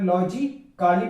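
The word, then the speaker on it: logically: और इधर अगर तीसरा वर्ड देखा जाए तो इसके अंदर लॉजिकली पढ़ा जाता है, लेकिन अगर ए एल के पहले ए आ रहा है तो ए साइलेंट होगा।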